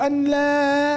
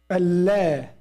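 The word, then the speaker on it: أن لا: Now, as Ammu said, now we don't say ashhadu an la ilaha illallah. We don't say that. We say ashhadu Allah. Allah. Right?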